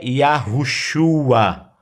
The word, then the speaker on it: Yahushua: E do seu ungido, o Messias, a pronúncia mais próxima do original em hebraico é Yahushua, Hamashia, ou Homer Hushai, que traduzido em português é Messias.